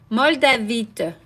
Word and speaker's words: moldavite: other stone is moldavite moldovit Maldives how do you say that I don't really am saying this right in French we would say moldavite that's French so I'd rather say